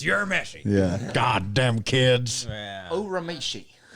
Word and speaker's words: Urameshi: How do you pronounce that? Urameshi. Oh my god. Urameshi, dude.